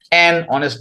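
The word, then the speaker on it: honest: ওয়াজ অনেস্ট ম্যান হয় অনেস্ট ম্যান অনেস্ট জানেন এইযে কারণে এটা হবে অনেস্ট উচ্চারণের কারণে হবে ফরমেট সেখান থেকে দেখতে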